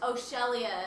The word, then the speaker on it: Sheria: Shelia. It's spelled Sheria, but apparently it's pronounced He says Shelia.